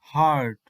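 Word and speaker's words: heart: সাউন্ডটি এরপরের ওয়ার্ডটি দেখো হার্ট হার্ট এখানে তাহলে ভালো করে লক্ষ্য করো ই এর উচ্চারণ হচ্ছে আ জিবটি পেছনের দিকে রোল করে আ সবশেষে আরেকটি ওয়ার্ড এই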